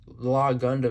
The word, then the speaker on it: LAH Gundam: Law Shield, but for some reason it's not spelled the same way as Law Gundam. It's just LA Shield. Law Gundam is L A H Gundam.